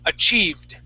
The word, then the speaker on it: achieved: time achieved achieved okay give me a D sound at the end achieved achieved okay so what uh what you're producing is a t sound at the end okay um saying a cheie with a t Okay the difference between the D and the t is that your your tongue hits the top of your mouth with a